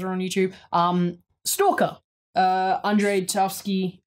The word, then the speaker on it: Tarkovsky: I speak it's like, I don't want to say the K, I'm just like Tarkovsky. But anyway, Tarkovsky, there you go, I actually pronounce it. Tarkovsky. You're missing still the K.